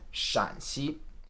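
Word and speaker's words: Shaanxi: Chinese provinces Shanxi and Shaanzi the double a here indicates that it's a third tone shǎn and not a first tone shān 拉丁化新文字 sin wenz or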